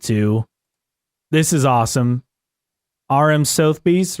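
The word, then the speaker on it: Sotheby's: this is awesome RM Sobe right is that how you say it so bees so bees yes the auction house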